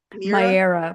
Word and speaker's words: Mera: mother home mother's homeland Mera. Am I saying that right? Miraa. But do you know what it it whatever pronunciation you got that's correct too.